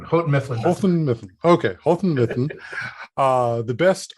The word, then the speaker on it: Houghton Mifflin: I'll let them actually tell us how that's actually pronounced, because my dyslexia gets in the way there. Yeah, it's Houghton Mifflin. Houghton Mifflin.